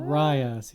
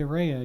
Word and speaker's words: Raya: move on to raya rayas yeah my brain was gonna say reya again because it's spelt that way raya in the last dragon